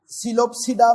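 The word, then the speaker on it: Psilopsida: अब इस टिरोप्सिडा में पी साइलेंट है और इसी तरह सीलोप्सिडा में पी साइलेंट है।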